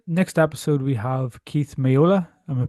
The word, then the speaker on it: Meola: So, for the next episode, we have Keith Miola. Am I pronouncing that right? Yeah, Keith Miola.